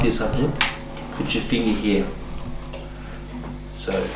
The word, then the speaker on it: Abtin: Abtin. Abtin. How do I spell it?